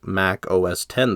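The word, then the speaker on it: Mac OS X: I do promise to properly pronounce Mac OS 10 as Mac OS 10 this time proving that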